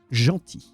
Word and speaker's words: gentil: You use the word gentil. Well, this time, the L is silent.